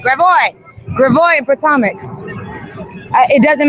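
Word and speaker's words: Gravois: Somebody said some protesters are getting we're on Gravio. Gravio. Y'all taught me how to say this. Gravoy. Gravoy.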